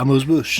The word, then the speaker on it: amuse-bouche: Amuse-bouche? Yeah. Is that how actually amuse-bouche? Yeah, amuse-bouche.